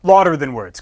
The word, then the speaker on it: Lauder Than Words: louder than words well louder than words because that's how you actually pronounce it but we here at